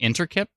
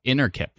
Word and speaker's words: Innerkip: Was I saying Interkip? Oh, Innerkip. My bad.